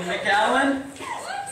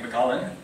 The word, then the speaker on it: McAllen: I'm excited to be here in McAllen. Is that how you pronounce it? Yes. I figured that's the way it would be, right? Not like McAllen.